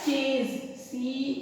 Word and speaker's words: chase: फिर वर्ड आता है चेज, CHASE चेज। चेज देखिए ऐसी है मगर प्रोनाउंसिएशन ज का दे रहा है, तो ये हम आगे